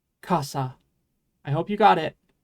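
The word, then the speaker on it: 傘: Anyway, it's pronounced kasa.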